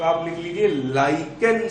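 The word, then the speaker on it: lichen: तो आंसर है क्या, लिचेन। कुछ लोग लिचेन बोल देते हैं इंग्लिश में, हिंदी में लाइकेन। सही प्रोनाउंसिएशन जो है, सही उच्चारण जो है वो लाइकेन।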